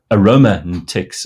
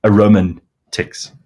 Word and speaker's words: aromantic: the point of aromantics it's not aromantics aroma and ticks are people who are very interested in smell um a roman ticks it's just where you how you pronounce it um so we'll talk